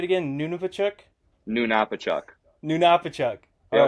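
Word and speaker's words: Nunapitchuk: uh hold on let me I know I butchered it how' you say it again nunuk na Napa chuk na Napa chuk all right y so that's uh about 400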